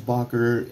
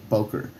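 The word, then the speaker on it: Böker: wrong for a while i thought it was bocker i came to find out there's some people that corrected me poker uh police tool or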